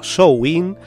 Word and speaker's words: Samhain: el solsticio de invierno, Samhain, cuya correcta pronunciación sería Samhain, era visto como un